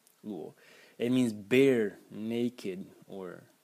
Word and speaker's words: 裸: Second character in the series, pronounced luo, luo.